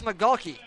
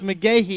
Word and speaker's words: McGahee: Let me see if I can help you out I think that's McGawkey. It's McGahee. McGahee.